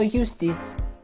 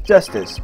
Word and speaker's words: Justice: number to call juice Apollo Eustace that's justice better learn how to say it if you ever want to get some believe I know shooting I see claims mr.